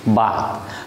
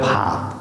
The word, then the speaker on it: ভাত: শুদ্ধ বাংলায় বলে ভাত, শুদ্ধ বাংলায় বলে ভাত। আবার বাংলাদেশের অনেক আঞ্চলিক ভাষা আছে সেখানে ভাত বলে না, কি ভাই আপনি ভাত খাইছেন, আপনি ভাত খাইছেন নি, ঠিক ভো উচ্চারণ করছে না।